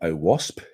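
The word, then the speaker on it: OWASP: I'm going to talk a lot today about oasp that is how you pronounce it um we'll come back to it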